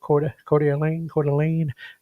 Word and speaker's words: Coeur d'Alene: Coeur d'Alene.